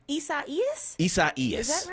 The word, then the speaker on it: Isaias: Isaias. Is that right? Isaias. Okay, Isaias is moving up the coast.